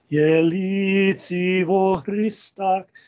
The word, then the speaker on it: Jelici vo Hrista: That lift in the melody is causing that particular word and syllable to be stressed above the others. Jelici vo Hrista.